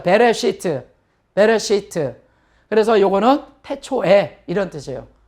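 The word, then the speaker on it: בְּרֵאשִׁית: 자, 알렙이나 아인이라고 하는 그 문자는 모음이 없으면 그냥 묵음이 되는 거예요. 그래서 배, 레 하고 요건 묵음이고요. 그 다음에 쉬. 요건 장모음이죠. 시트. 한번 해보죠. 베레시트.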